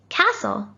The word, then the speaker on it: castle: worry it was tricky both of these words have a silent t and as you can